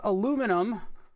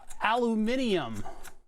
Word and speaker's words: aluminum: Just like it's aluminum and not aluminium. I don't see no extra syllables in there.